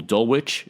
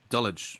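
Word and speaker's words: Dulwich: to the same school, Dulwitch. Is that what it's how it's pronounced? They both went to Dwitch. Dulich. Yeah. Dulich.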